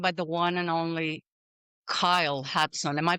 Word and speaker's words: Kyle Hudson: And I'm joined by the one and only Kyle Hatson. Am I pronouncing it good?